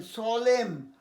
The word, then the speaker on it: SOLEMN: আচ্ছা, সলেম, SOLEMN, সলেম মানে দৃঢ় এবং গভীরভাবে, গাঢ়ভাবে, সলেম, এই সলেমলি বলে না।